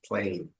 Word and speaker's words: plain: Plane, plane. I have to move my smile muscles to get the full sound. Think about that. Try it. Plain.